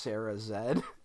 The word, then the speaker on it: Sarah Z: is Sarah z um oh I think she's Canadian so it's pronounced Sarah Zed um what's that about